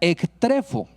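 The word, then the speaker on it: ἐκτρέφω: viene del griego 1625, que se pronuncia ektrefo.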